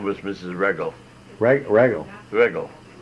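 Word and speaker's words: Wreggel: I should know Regel is spelled W-R-E-G-G-E-L. What's that again? W-R-E. W-R-E, oh, Regel. Sure. Who knew W? That would be Regel.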